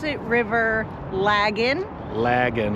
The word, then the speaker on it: Lagan: Lagan, like dragon.